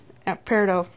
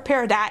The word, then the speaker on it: peridot: Peridot. Or peridot, as some people pronounce it. Hey, I've pronounced it peridot.